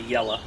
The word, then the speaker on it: Yellow: And if you call it Bahama yella, it's not, even though we spell it Y-E-L-L-O-W, you got to say yella because you're saying Bahama.